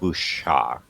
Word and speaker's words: wuxia: It's pronounced wuxia. Wuxia. Yeah, wuxia. Remember that it's a Chinese word. I don't think they have X's the way that we do. They don't have that they don't do that sound a lot. Okay, wuxia. A lot of times when you see an X in a Chinese word, it's not going to be pronounced like we pronounce our X's.